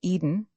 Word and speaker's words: Eden: The word was Eden, to rhyme with seed-in.